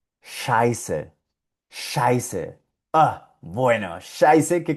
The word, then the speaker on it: Scheiße: Esto se pronuncia Scheiße.